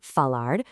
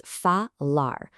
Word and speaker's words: falar: Let's isolate our very first one, falar, which simply translates to to speak. The standard formal pronunciation here is falar.